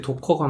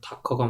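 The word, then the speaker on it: Docker: 근데 도커가 맞아요. 다커가 맞아요.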